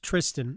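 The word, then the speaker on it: Thriston: Sam Burns and Tristan Lawrence, who I actually think it might be pronounced Tristan, even though it's THR.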